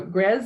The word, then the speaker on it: Grzes: So Grez sounds like Pez, even though it's actually spelled G-R-Z-E. That can throw a lot of people. So Grez like Pez, Cove, and Yak.